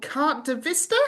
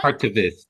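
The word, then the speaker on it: Carte de Visite: The story is called Carte de Vista. Have I pronounced that right? Carte de Viste.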